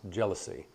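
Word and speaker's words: jalousie: explain it further but it's pronounced jealousy jealousy Windows slats so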